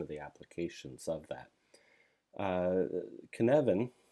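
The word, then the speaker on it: Cynefin: the applications of that can Evan it's spelled sin ofin but can Evan is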